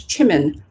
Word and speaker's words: Jimin: um the bts member whose name is jimin or in the korean pronunciation it's chimin my god he's a